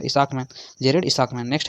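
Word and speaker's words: Isaacman: भी सा है तो इसको उच्चारण करिएगा इसाकमैन जेरेड इसकमैन नेक्स्ट है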